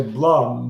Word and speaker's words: Bloom: And he tried to get us to say Blum. Nobody would. Why would they? Yeah. You read O-O, you go ooh. If you spell it O-O-M, you're going to get Bloom.